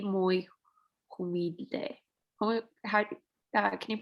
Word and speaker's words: humilde: El padre es católico, es y muy humilde. Can you pronounce that? Humilde. Humilde. Remember the H is silent, so pretend like it's not there.